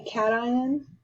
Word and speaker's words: cation: can be negative a cation a lot of people think uh pronounce this wrong so this is called cation is a ion with